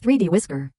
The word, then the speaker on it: 3DWI.SCR: The full title is 3D Workers Island, but most of us prefer to use its file name instead, pronounced 3D Whisker.